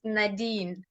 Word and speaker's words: Nadine: Your name ubiro de Nadine kana ngwana kana rationalize my umpolele gore ke No, no, you're saying it right, Nadine.